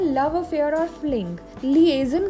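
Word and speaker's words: liaison: इस वर्ड को प्रोनाउंस करेंगे लिएजन। लिएजन, ठीक है, लिएजन। हिंदी में इसका मीनिंग होता है संबंध या मेल जोल।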